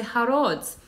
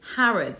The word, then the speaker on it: Harrods: Lots of international students love visiting Harrods, but they often say Harrods. Actually, it's Harrods. That O is an uh, Harrods.